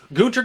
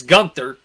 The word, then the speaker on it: Gunther: the ring announcer that his name is not guter it's gunther because i believe that is the proper german pronunciation for it okay and the